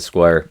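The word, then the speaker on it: Squier: like paying the full you have a squire that's what what it's called except it's not spelled the same way it's SQ u i e r oh interesting but it's a square yeah and um uh for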